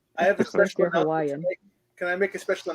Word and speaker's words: Hawaii: just look at the the word Hawaii and and I know that the W is also supposed to be a V and almost every single